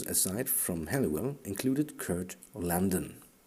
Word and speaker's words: Landon: Members of this cadre of operators, aside from Halliwell, included Kurt Landon. Not London, but Landon. Kurt Landon and James Guil Martin. Kurt Landon and James Guil Martin.